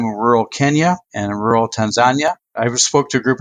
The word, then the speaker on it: Tanzania: all these witnesses that in Swahili we pronounce it Tanzania.